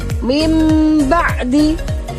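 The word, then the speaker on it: مِن بَعْدِ: Mim ba'di. Meskipun tulisannya min ba'di, tapi membacanya menjadi nun sukunnya berubah menjadi mim.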